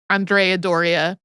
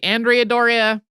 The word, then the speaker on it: Andrea Doria: The Italian pronunciation of it would be closer to Andrea Doria. I would say I've heard most English speakers say Andrea Doria.